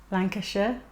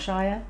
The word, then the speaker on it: Lancashire: That's how it's pronounced. Birmingham. Lancashire, not Shire.